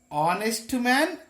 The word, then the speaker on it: honest: Honest man, honest man. Here also H silent.